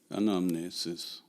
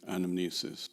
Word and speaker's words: anamnesis: the theory of recollection an omnisis or in english pronunciation anamnesis ordinary mortals cannot know